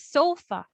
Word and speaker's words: sofa: we stress so stress how do we pronounce this word sofa or sufa so it's sofa so the the stress there is on the first syllable syllable or young emphasis